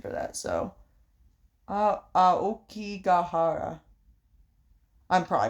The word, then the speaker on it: Aokigahara: The, Akigahara. Aokigahara? I need a pronunciation for that, so... Aokigahara.